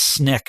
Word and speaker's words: SNCC: a group called sncc which is usually pronounced snick which stood for student